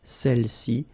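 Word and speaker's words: celles-ci: Okay, don't pronounce the final S, celle-ci, celle-là.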